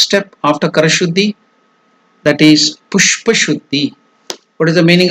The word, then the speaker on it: Pushpa: So the slide is given about the Pushpa Shuddhi. So how to pronounce this step? Pushpa. That Sh is the Murdhanya. Pushpa. The tongue will touch the palate. Murdhanya. So it's called Murdhanya Sha.